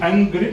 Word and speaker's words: Angered: It gives the unemployment rates of this area, and as you can see in the red up there, is it Angered? Am I pronouncing it correctly? Yeah.